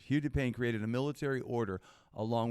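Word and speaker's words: Hugues de Payens: His name was pronounced Hugh de Payne. Hugh de Payne, thank you for that pronunciation. Hugh de Payne created a military order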